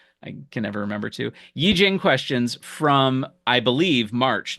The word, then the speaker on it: Yijing: So I can't now that I know how to pronounce it correctly. I can never remember to Yijing questions from I believe March 1974 because they're